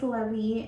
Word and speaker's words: Levi: So it's spelled like Levi, and we've already had to correct so many people, but his name is Levi, and obviously I had to stick with the L names.